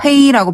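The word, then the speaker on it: 黑: 자 샤이는 햇볕의 죄다.네 그다음에 헤이란 단어는요 거물 흑자를 중국식으로는 헤이라고 발음하거든요.네 네.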